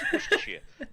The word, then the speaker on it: Worcestershire: Worcestershire. It's Worcestershire, Mm. Instead of saying shire, you say sheer.